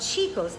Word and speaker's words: Cicco's: She is part owner of Cicco's Ristorante.